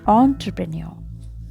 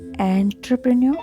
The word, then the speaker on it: entrepreneur: So the correct answer is this is entrepreneur. Entrepreneur. Okay, not entrepreneur or entrepreneur. So this is the correct pronunciation.